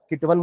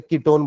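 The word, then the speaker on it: ketone: Spelling वन की है बट बोलते ओन है ना. कीटवन बोलेंगे तो अच्छा ही लगेगा, इसलिए कीटोन बोलते हैं.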